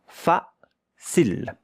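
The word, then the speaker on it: facile: But the e at the end. Here you have a consonant. Here you have a e, a voil. You don't hear it.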